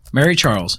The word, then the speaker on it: Mary Charles: The night of October 22nd, 1966, Mary Charles, yes, it's pronounced as if it was one name, picked me up at the nearby park.